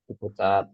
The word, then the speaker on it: Ciputat: Iya, Ciputat seperti itu. Tapi tetap ya, anak bilang tadi, bacanya Ciputat. Jangan baca tulisannya. Karena kan ini, apa ya istilahnya, tulisan formalitas saja. Kan? Nanti tulisannya di kertas atau di mana akan tertulis seperti ini.